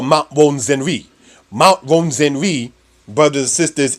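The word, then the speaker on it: Rwenzori: So for those who care to reference it, Ronzenri is spelled as Rwenzore.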